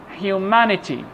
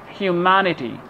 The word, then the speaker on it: humanity: Put the stress on the syllable before ITY. Okay, let's have some examples. Electricity, electricity, electricity. This is the part which is stress. Security, security. Humanity, humanity.